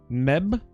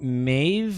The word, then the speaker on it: Medb: pronounced by the way the D is silent Meb Chad is saying Maeve like it's the D in the and the B combined make a v sound is that like when